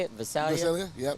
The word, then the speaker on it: Visalia: Visalia. Visalia? Yep. Visalia.